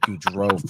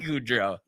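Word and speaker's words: Gaudreau: Rosen was talking about I guess it's pronounced good goodro and then it's Johnny goodro so it's good Ro and goodro goodro yeah all just mention that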